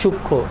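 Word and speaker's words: সূক্ষ্ম: এখানে উচ্চারণটা হওয়ার কথা ছিল সূক্ষ বাট এটার উচ্চারণটা হয় সূক্ষ একটাই কারণ এটা হচ্ছে যুক্ত ব্যঞ্জনের সাথে যদি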